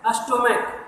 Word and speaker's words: stomach: जैसे स्टोमैक, STOMACH, स्टोमैक, इसमें last में क्या लगा है, CH लगा है, लेकिन जो इसका उच्चारण है वह का हो रहा है, तो इसमें क्या लगा देंगे, सिंपल S लगा देंगे।